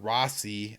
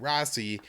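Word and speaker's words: Raisi: will be the the new prime minister uh rossi i i'm gonna pronounce his name r-a-i-s-i uh will will be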